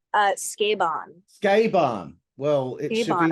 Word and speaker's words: Sukeban: So just so you know, it's not pronounced Sukeban. Oh, Jesus. I didn't want to correct you, but it's pronounced Sukeban.